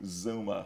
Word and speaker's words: Xooma: So how do you pronounce that? Zuma. Zuma.